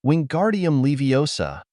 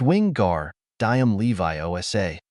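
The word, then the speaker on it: Wingardium Leviosa: arms like a windmill you're saying it wrong Harry heard hermion s nap it's Wing gar diam Levi Osa make the gar nice and long she put emphasis on the gar and O to tell him how to say it you do it then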